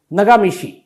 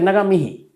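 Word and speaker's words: Ngā mihi: और दूसरा नगामिशी, बल्कि नगामिही, नगामिहीन का मतलब थैंक यू।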